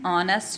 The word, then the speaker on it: honest: important thing and are an honest man h is silent you know and ah